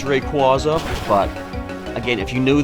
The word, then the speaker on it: Rayquaza: those things where some people argue over the pronunciation oh it's not requisite it's Rayquaza but again if you knew the Pokemon I